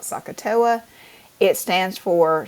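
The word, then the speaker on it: SOHCAHTOA: differently but if you if you kind of try to pronounce s o h c a h t o a it kind of sounds like Saka it stands for S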